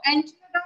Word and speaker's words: enchiladas: So enchilada, I think it's a Mexican dish. उसका spelling होता है ENCHILADAS, but usually S कोई pronounce नहीं करता है, तो enchilada.